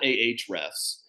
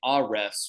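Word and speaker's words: Ahrefs: do you know about she called it ah refs and we kind of actually started joking in the interview because I said wait a minute is that how you pronounced that because I said I've been saying a refs for like two months now am I have I been getting that wrong and she lost it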